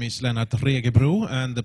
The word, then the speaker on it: Lennart Regebro: okay thank you yes oh my name is Lana tricky brew and the pronunciation of this is optional it's fine i'm